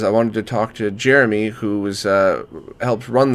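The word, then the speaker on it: Jérémy: screwing that up well you can pronounce it as an American so you could say Jeremy so that's okay don't worry gotcha okay what's the correct French pronunciation though Jeremy gotcha all right so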